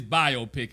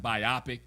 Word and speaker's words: biopic: a biopic like this and the word is biopic because i've heard people pronounce it biopic come on people common sense biopic doesn't even